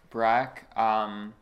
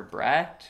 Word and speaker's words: Breck: out a few times, Breck, it's a one syllable name, it shouldn't be that that tough. It's a simple noise. A lot of people would default to Brett or Brock, which again are normally